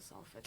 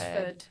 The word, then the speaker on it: Salford: canals, but then I think because Salford people can't say their T's, it changed to Salford. I see. Yeah. it does make it Yeah. easier to pronounce, Yeah. though. Salford. Yeah, Salford Saltford is would very. be really difficult.